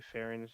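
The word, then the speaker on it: Ferren: was born Farren Lee I believe that's how I pronounce her name f-e-r-r-e-n I would say fairings how you would probably pronounce it uh she was a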